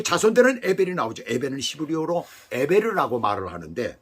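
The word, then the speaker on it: עבר: 것이에요 근데 그 자손들은 에벨이 나오죠 예배는 히브리어로 에베르라고 말을 하는데 발음을 하는데 건너온 자 건너편이라는 뜻을 가지고 있어요이는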